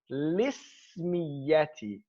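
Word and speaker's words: الاسمية: We transfer the kasra from the hamza that's in ism to the lam sakina, and it becomes lismiya. And that is the classical proper way to pronounce this.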